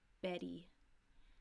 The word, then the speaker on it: Betty: T goes like this if a T or a double T is between two vowels it will have a soft D sound so for example Betty we have a short e here at Betty long e here right so this will become a D sound Betty and same thing